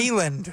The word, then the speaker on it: Neyland: Neyland. I say it right, Neyland. Neyland. It's like take a knee land.